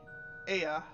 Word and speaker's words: Ea: When the vibration of vocal folds was still required to convey our thoughts and intention, Ea, I believe, was a pronunciation used when referring to our people.